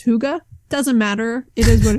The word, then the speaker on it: Hygge: I think it's like, listen, I don't know, but I think it is a less pronounced and you just kind of like a Hygge. Not Hugg-ah.